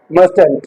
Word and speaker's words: mustn't: मस्ट नॉट और एंड यू can pronounce it एज मस्ट एंट okay so मंट वी